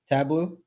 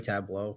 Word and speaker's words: Tableau: Tableau. I know it's gonna. Tableau. Hey, you're fine. So they shouldn't have named it that way. They should have spelled it TABLO. Done. Tableau.